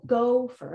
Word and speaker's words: gopher: And you naturally said gopher and made go the strongest chunk, right?